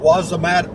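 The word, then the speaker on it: Wossamotta: time about this university called wazamat what's the matter you it's spelled w-o-s-s-a-m-a-t-a Wasa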